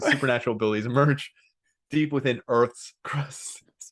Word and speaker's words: Urth: 7 fearsome creatures with supernatural abilities emerge deep within Earth's crust. Pronounced the exact same, which is even funnier because how would you know? EURTH. No, URTH. Oh, URT. It's Earth. Earth.